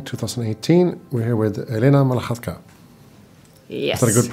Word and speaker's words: Malakhatka: We're here with Elena Malakhatka. Yes. Is that a good pronunciation?